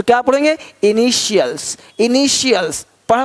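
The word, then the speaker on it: initials: अब यहाँ देखो कि टी के बाद ए आई इस तरह से वर्ण रख देखो तो टी का ध्वनि श होता है। देखो क्या बोलते हैं, इनिशियल्स। अब यहाँ पे टी आई है, इनिटियल्स नहीं बोलते, इनिशियल्स, इनिशियल्स, इनिशियल्स।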